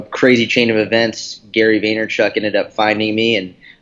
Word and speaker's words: Vaynerchuk: Talking about Gary Vaynerchuk, that's how you pronounce his surname, right? Is it Vaynerchuk?